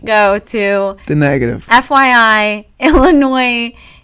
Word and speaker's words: Illinois: FYI, Illinois. You, even though it's spelled with an S, you don't pronounce it.